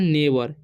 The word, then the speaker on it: neighbour: ठीक है, और NEIGHBOUR है। ठीक है, तो इसे हम पढ़ते हैं नेबर। यहाँ पर भी GH का यानी कि GH साइलेंट है।